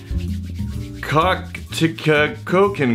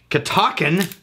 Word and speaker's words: Catoctin: Catoctin Creek.